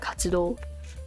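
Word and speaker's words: 活: This was featured in one of my shorts when I talked about katsudo activities. This pronounced as katsu.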